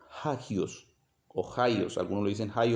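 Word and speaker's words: ἅγιος: y es santísimo que se se pronuncia se pronuncia hagios ohios algunos le dicen hay otro hacks bueno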